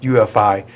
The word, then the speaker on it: UEFI: you what about that ufi what is ufi this is supposed to be something really new with windows 8. well uefi which is pronounced ufi is a new architecture